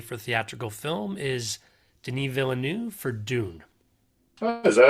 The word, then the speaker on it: Villeneuve: So our last nominee by the DGA for theatrical film is Denis Villeneuve for Dune.